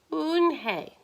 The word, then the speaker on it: Unhei: turned to joey she nodded slowly yes it's pronounced and it means grace mr kim added oon hey joey slowly smiled and this time it was